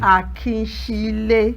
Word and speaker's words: Akinsile: You know, but before I say it, I want to correct the way you pronounce my name anyway. I am Akinsile Akinniran. Akinsile. Yes, that's the right way to pronounce it.